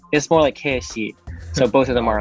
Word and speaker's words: Keshi: But Yeah, that's the full way of saying it, but the way that it's spelled for me is there's an elongated for each like vowel, so it's more like Keshi.